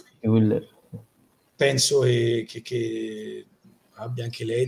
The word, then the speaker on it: Hüller: Penso sicuramente lei, Sandra Hüsler, com'è la pronuncia corretta? Io il tedesco ho sempre detto Hüller, però io il tedesco lo so più o meno come russo. Hüller, vabbè, se quello sì. Uller.